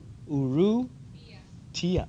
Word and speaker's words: Urrutia: Urrutia. Urrutia. Ooh, you pronounce the Tia.